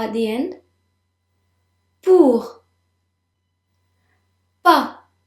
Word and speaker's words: pas: Pas. The S is silent.